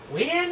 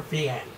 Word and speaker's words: Wien: Is it Wien or Vienne? See, it's spelled Wien, W-I-E-N, but I've... No, maybe I'm thinking of a different team, but... I could have sworn it's pronounced Vien.